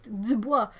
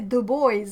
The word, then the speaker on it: Dubois: can see it right Dubois no no we say the boys like it's written dude stop it oh